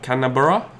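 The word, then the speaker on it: Canberra: oh Kemba can I borrow 10 borough that's how you pronounce it by the way like Melbourne by area what's the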